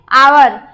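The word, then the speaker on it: hour: आवर। H silent इसमें रहता है, हावर ना पढ़ के हम क्या पढ़ते हैं? आवर पढ़ेंगे।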